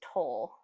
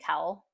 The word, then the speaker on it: Towle: Here is 3 Laufer Towel Magnum uh, though I think it's toll. So I think it's toll. Towle is supposed to be pronounced toll, and I always say towel.